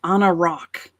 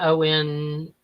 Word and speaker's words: Anarac: All right, the closest sounding name, he says the closest sound that's kind of close enough that's good for him is Anarak. Anarak. I would spell it Anarac. Anarak. Not Onarock.